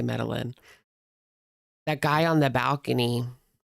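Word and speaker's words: Medellín: Was that in Medí? Medline meal. Medí. I think it's Medí, but Metalin as well. Americans say Medilin.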